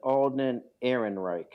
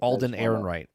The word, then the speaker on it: Alden Ehrenreich: Alden Ehrenreich. Okay. Alden Ehrenreich.